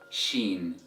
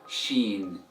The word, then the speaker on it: ش: Alright, so the 13th letter of Arabic is pronounced as Sheen, Sheen, Sheen. Repeat after me, Sheen, Sheen, Sheen. And the sound of the letter Sheen is equivalent to the sh sound in English, and in the word sharp or sheep.